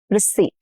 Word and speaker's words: receipt: Please keep the receipt for your purchase. Here, P is silent. English borrowed this from French, and the P stayed in spelling but disappeared in sound.